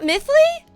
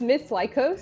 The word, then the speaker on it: MithLycos: dare change so wait is it not mthly it's it's myth lyos so it's supposed to